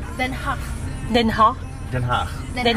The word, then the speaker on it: Den Haag: You should pronounce it in Dutch. Den Haag.